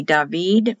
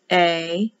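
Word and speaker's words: דוד: So if you look up the Strong's, H-1732 will be David. Remember, the I is pronounced like an E. Remember, they read right to left, and they start at the top and go down. D, David.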